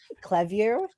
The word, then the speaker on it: Clevue: Clevue? Yeah, absolutely. Okay. So we're a Finnish company. So we get Clevue. Kind of just depends where on the globe you are, how you pronounce it.